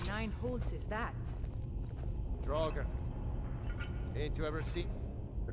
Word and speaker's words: Draugr: Draugr. Ain't you ever seen? A Draugr. One before? That's how you pronounce it.